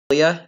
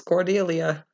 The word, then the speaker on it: Cordelia: It's not Cordelia, as many people like to pronounce it. It's Cordelia.